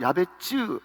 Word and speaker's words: 야베스: 하는 인물이 등장하죠 여러분 야베스 원래 발음은 야베쯔 이렇게 발음해야 되는데이 야베스가 뭔가 하면요 고통